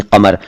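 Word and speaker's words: क़मर: इसके अलावा रश्के कमर में जो कमर शब्द आया है, कमर नहीं कमर, उस जैसे और भी बहुत सारे शब्द हैं जिनमें क अक्षर आता है, यानी क के नीचे बिंदु आता है।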